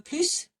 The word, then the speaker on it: plus: Tu en veux plus? Do you want more? Yes, we pronounce it.